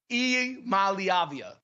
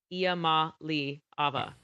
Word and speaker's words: Iamaleava: it actually is phonetically spelled right. Iamaleava.